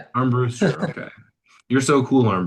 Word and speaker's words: Armbruster: Am I pronouncing that right? First of all, that's Armbster. Yeah. Yeah. Arm Brewster.